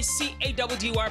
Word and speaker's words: Caddy: It's your boy C-A-D-D-Y, pronounced Caddy.